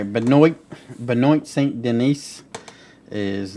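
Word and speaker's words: Benoît: We got, I believe I'll pronounce it Benoit because of Chris Benoit, Saint Denis or Dennis, and it's God of War.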